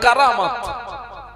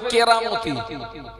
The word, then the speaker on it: কারামাত: ঘটনাগুলো ঘটে তাকে বলে কারামাত। আমার দিকে তাকান, কি বলে বাবা? কারামাত। যেটা আমরা অনেকে আবার বলে ফেলি কেরামতি, কিন্তু ওর মূল উচ্চারণ হচ্ছে কারামাত।